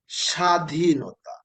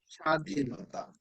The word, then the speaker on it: স্বাধীনতা: স্বাধীনতা। দেখছো, এই যে প্রথম অক্ষরের সাথে যখন ব ফলা থাকে, তখন এটার কোনো উচ্চারণ হয় না।